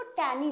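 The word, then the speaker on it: tangy: हम ये जी जो है थोड़ा सा लाइट प्रोनाउंस होता है। टैनी इसमें जी को बहुत जोर से हम लोग प्रोनाउंस नहीं करते हैं। तो ये प्रोनाउंसिएशन इसका टैनी होगा।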